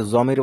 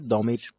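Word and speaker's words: ضمير: জানি দমির ঠিক আছে এটাকে বাংলাতে অনেকে জমির বলে শুনবেন মানে জমির জমিরও বলে তো দদকে জদ হিসেবে পড়ে অনেকে কারণে জমির বলে তো এটার আসল উচ্চারণ হচ্ছে কি দমির ঠিক আছে আমি একটু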